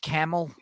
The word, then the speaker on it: Camille: There, it's pronounced camel.